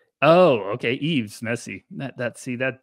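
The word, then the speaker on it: Yves: I'm in my own ye e ye yees e EES like Christmas Eve oh okay Eaves messy that that see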